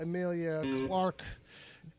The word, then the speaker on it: Emilia Clarke: So, over in the movies section for the news, Game of Thrones star Emilia Clarke.